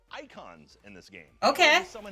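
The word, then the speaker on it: Eikon: on summons which are called icons in this game okay summon an icon a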